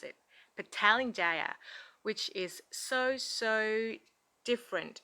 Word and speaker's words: Petaling Jaya: pronounce this word so um they said it's petaling jaya this is how they pronounce it petaling jaya which is so so different from babbling they